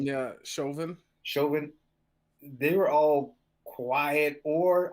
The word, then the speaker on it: Chauvin: Yeah, Chauvin.